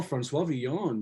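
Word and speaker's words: François Villon: Oh, Francois Villon, yeah.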